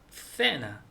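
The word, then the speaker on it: cena: 그래서 이게 또 E하고 알파벳 E하고 I하고 같이 되면은 세 발음이 됩니다. 그래서 세나 저녁 식사, 세네 이렇게 영화 이렇게 되는데 아오우하고 모음이 붙으면은 세하고 아오우하고 붙으면 끄 발음이 되더라고요.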